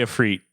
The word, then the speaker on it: Ifrit: Yeah, that's how they say Ifrit now.